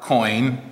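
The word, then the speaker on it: quoin: tool um this is what's called a bar coin coin and it's spelled uh quo i n and it's made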